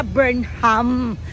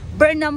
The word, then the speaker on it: Burnham: ko rin yung pagsabi hindi pala Burnham Burnham pala silent h so sobrang naexcite yung